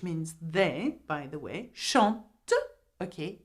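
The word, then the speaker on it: chantes: Though there is an s we do not pronounce the s at the end. So you say to shant.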